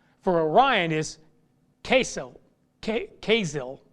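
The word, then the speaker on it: Kesil: for orion is queso casill it's it's pronounced with a z k-e-s-i-l casil which means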